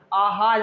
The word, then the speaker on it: आहार: कई जगह जो आहार होता है कुछ लोग उसमें छोटा बना देते हैं, जबकि ये नहीं, आहार जब आप उच्चारण करेंगे तो बड़ा आ मुंह से निकलता है।